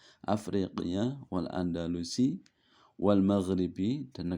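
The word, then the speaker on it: أفريقية: Nah, di sini alifnya di atas, hamzahnya berarti bacanya a. Kalau di bawah berarti Ifriqiya. Kalau di atas Afriqiya wal Andalusi wal Maghribi, dan negara Maghrib, Andalusia, Maghrib, Afrika, Mesir, wal Maghribi al-Aqsa.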